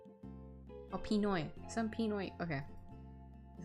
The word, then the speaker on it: Pinoy: Oh, Pinoy.